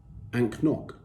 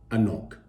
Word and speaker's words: anCnoc: c now some of you may think it's pronounced ank nok some may think there's a silent c or an n well let me put you off your misery it is in fact pronounced a knock so therefore we are drinking a knock and